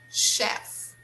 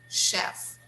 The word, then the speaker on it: chef: Businessman, businessman, secretary, secretary, painter, painter, detective, detective, chef, chef. Be careful here. We don't say ch. No, we don't say chef. No, we say chef, chef.